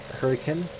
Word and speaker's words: Hurricane: For instance, this exit right here is not Hurricane, although a lot of people have said that. It's Hurricane. It's the original English, like British English, Hurricane. Maybe a Utah accent, but Hurricane is how you say it, not Hurricane.